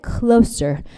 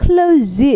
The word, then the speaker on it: close: They can get closer. 이거 발음하실 때 close 이러면 닫다가 돼버리기 때문에 S로 발음하십니다.